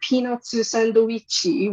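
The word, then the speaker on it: ピーナッツサンドイッチ: And so they're peanutsu sandoichi, which just sounds like I'm making fun of Japanese, but I swear that's how it's actually pronounced.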